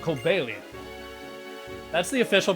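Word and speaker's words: Cobalion: an amazing pokemon called kobelian that's the official pronunciation but i'm going to call it kobalian because it's based on cobalt amazing pokemon called cobalian who was said to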